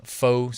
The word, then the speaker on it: pho: And it's got some faux soup or pho, however you want to pronounce it.